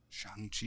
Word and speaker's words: Shang-Chi: Shang-Chi, yeah, Word. now that we know how to pronounce it.